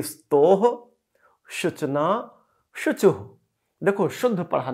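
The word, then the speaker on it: स्तोः: तो अगर आपने इसे स्तो पढ़ दिया तो गलत हो गया। इसे हम पढ़ेंगे स्तोह शुचना शुचुः।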